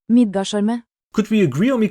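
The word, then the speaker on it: Midgardsormr: Midgarsormr. Sorry, it's a Norwegian name, that's how it's pronounced. Midgarsormr.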